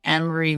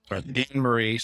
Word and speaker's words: Annamarie: The A is silent, everyone. For those who don't know, like myself. Annamarie, tell us about yourself. Likes, dislikes. So you have the floor. Okay, so hi everyone. I am Annamarie. The A in my name is silent. Just don't forget it.